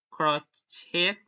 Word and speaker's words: crochet: Ballet, buffet, ballet, crochet, socket.